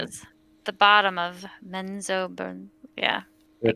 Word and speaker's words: Menzoberranzan: I have written this down incorrectly because you didn't spell it, but does Morrow Benenzen? Yes. Menzoberranzan.